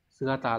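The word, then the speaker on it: 姿: Số 4, đây là chữ nhiệt, này đọc là atsui đúng không? Nóng. Đúng, đây phải là số 1. Sugata là chữ tư.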